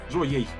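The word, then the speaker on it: Joey: Як пишется Джоуі? Ха! Тэмпест. Я зараз зразумеў, што... Я памятаю. J-O-E-Y. Джоей.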